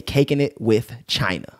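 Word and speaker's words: Cakinit with China: type negative one wait he said it's caking it with china but no g on the caking it's caking caking like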